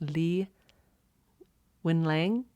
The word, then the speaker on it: Li Wenliang: I believe his name is pronounced Li Wenliang.